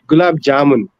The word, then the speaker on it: gulab jamun: just do it yourself you have to pronounce the J in the gulab jamun yeah okay too Polish